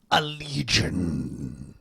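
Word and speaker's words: Allegaeon: That's the band Allegiant. You have to say it like that.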